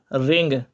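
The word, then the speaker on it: wring: Next word है आपका रिंग। डब्ल्यू इसमें साइलेंट रहेगा बच्चों। यह बात याद रखना। डब्ल्यू इसके अंदर क्या रहेगा? साइलेंट रहेगा।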